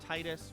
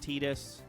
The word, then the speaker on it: Tidus: name is confusing though you want to call him titus but it is pronounced tidus oh um so i'll